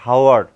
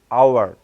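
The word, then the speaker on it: hour: এ বসার কথা ছিল, কিন্তু দেখেন এইচটা কিন্তু সাইলেন্ট হয়ে যাচ্ছে, এখানে এখানে এইচটার উচ্চারণ হচ্ছে না, অর্থাৎ উচ্চারণটা কিন্তু এমন করে হচ্ছে না হাওয়ার, দ্যাটস মিন এটাকে বলতে হবে it's mean আওয়ার, এইচ ও ইউ আর, এইচের উচ্চারণ হচ্ছে না।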